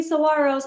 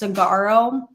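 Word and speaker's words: Saguaro: seeds my little baby Saros and then Matt thought it was hilarious that and so he tried to convince me that Saro was pronounced sagaro and I'm like that's not how they're pronounced he's back in the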